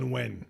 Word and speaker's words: Nguyen: It's how- Nguyen. It's Nguyen, pronounced yeah.